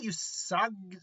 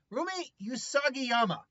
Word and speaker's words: Usagiyama: But her real name is Rumi Usagi. I can never pronounce her last name. Rumi Usagiyama.